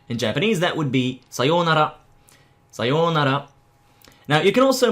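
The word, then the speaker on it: さようなら: sayonara, or you can make it a shorter one, which would be sayonara. But don't say sayonara or something, say sayonara. And try to pronounce the R in the Japanese way.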